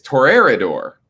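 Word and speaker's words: Toreador: and vampire spelled t-o-r-e-a-d-o we've all pronounced it toridor right yeah you know that's wrong no i didn't yeah apparently it's wrong because i heard it pronounced in the vampire the masquerade video game and it's torreira d'or i've never heard it pronounced like that in my life but apparently that's correct terraridor because it's spanish if we pick that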